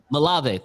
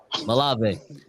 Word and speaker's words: Malave: Malave. Thank you. I didn't want to say Molly or something. Malave.